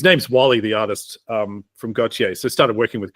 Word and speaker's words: Gotye: the Year Grammy Award winner with, is it pronounced Gotye? Gotye? Gotye. Yeah. Gotye.